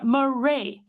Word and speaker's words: Murray: It is Dara Murray. His name rhymes with today, Monday.